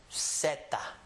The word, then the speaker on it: zeta: the alphabet is called zeta. Zeta. With an S sound. This letter actually has an S sound in this hemisphere. People from Mexico and Central America are going to always call the letter zeta.